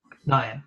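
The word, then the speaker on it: Niamh: Niam. Your silent H. Niam.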